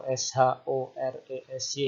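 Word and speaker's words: שורש: kemudian ini vokal o, kemudian ini r ya, res, kemudian ini vokal e, kemudian ini juga shin lagi ya. Sores. Jadi bisa saja sebenarnya tulisnya SYORESY atau SHORESY, tidak apa-apa ya. Tapi intinya sama, bacanya Shores. Nah, Shores itu apa?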